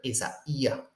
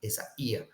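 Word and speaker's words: Ἠσαΐας: So to indicate that this is not really a diphthong, that's why you put the diaeresis there, to say that this, you don't have to pronounce it as Isaiah, but Isaiah. All right, the accent is on the yod, Isaiah.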